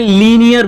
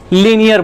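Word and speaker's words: linear: magnification भी बोला था तो वहां पर लीनियर भूलिएगा आप लोग प्रोनोंसीएशन सुधरेगा तभी आपको समझ में आएगा वैसे तो वह स्पेलिंग सही है लेकिन हेलो फ्रेंड्स रिएक्शन गलत बोलते हैं तो इससे यह एक तरह से ड्रैमेटिकली मिस्टेक माना जाता है इसलिए आप उसे लीनियर बोलिएगा ठीक है तो अब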